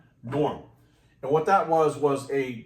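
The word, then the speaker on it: Gnorm: G-N, it was spelled like this, G-N-O-R-M, Norm.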